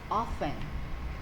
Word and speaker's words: often: see this word often it's silent T we read it as often and another word for